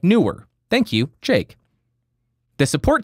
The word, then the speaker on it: Neewer: He said, hey, you're pronouncing it wrong. It's newer.